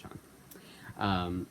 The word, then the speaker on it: Chung: that I said it's Chi Young. I didn't mean to say that. I meant to say it was Chung. I always pronounce it Chung.